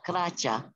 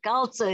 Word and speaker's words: calza: The way they say it here is kracha. They were hillbillies. What's the word for white? Aspro is white. Aspro, gotcha. That's white socks. Oh, calza. Calza is the correct way to say sock.